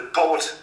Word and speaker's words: Poot: It's called the Poot family. They are basically... So how do you spell that?